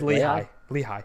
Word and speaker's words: Lehigh: names, and no one knows how to ever pronounce them if you're out of town. It's hilarious. Is it Lehigh? It's Lehigh.